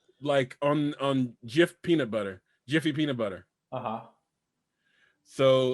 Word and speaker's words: Jif: actually Jif, Jif, not Jiffy.